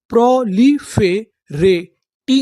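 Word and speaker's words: proliferate: अगर आपको इंग्लिश के किसी भी मीनिंग के आखिरी में इ लिखा मिले तो हम लोग इ का उच्चारण नहीं करते। हम लोग इ से पहले तक का उच्चारण करते हैं।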